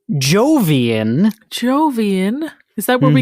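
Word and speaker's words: Jovian: Jupiter such a Zeus uhan zeusian is incorrect Emily I'm pretty sure that is something that comes from the jungle of n yeah and no I'm sorry Emily that's incorrect the correct answer is Jian Jian is that where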